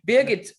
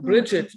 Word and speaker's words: Birgit: in canary islands and a lot of people are saying bridgette they can't pronounce it so yeah because they put the r in the other on the other spot oh yeah yeah yeah